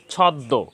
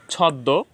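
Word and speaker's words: ছদ্ম: সংযুক্ত হওয়ার কারণে এখানে উচ্চারণ রীতিতে দ এর উচ্চারণ দৃত্ত হয়েছে দুইবার হয়েছে ছদ্দ এখন মসিক্য বর্ণ হওয়ার কারণে যে বর্ণের সাথে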